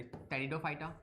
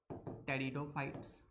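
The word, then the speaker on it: Pteridophyta: फिर उसके नेक्स्ट में आते हैं थैलोफाइटा, सॉरी टेरिडोफाइटा, जो कि पी से स्टार्ट होते हैं, पी साइलेंट है, टेरिडोफाइट्स।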